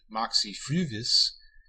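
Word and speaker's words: Moxy Früvous: The name of the Toronto, Ontario area folk pop geek rock band Moxie Fruvis is pronounced with long U, so this is perhaps not gratuitous.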